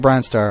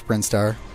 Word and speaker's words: Brinstar: I was going to say 'he is the pronunciation of things Brian star I call it Bronze Star I know it's brinstar I know that's how it's pronounced if I